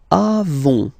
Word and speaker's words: avons: Then nous avons, final S not pronounced.